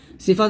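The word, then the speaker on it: ث: আওয়াজ শক্ত স্থির থাকা আর সা হরফটি পাতলা করিয়া এক আলিফ টানি নিয়ে পড়িতে হবে তো অবশ্যই আপনারা সাটা এক আলিফ পরিমাণ টান দিবেন সা এরকম ভাবে উচ্চারণ করবেন অবশ্যই উচ্চারণ করার আগে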